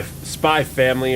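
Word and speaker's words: Spy × Family: spy versus uh spy Spy family or whatever it's called Uh apparently you're not supposed to say the X in the names of animes speaking of anime you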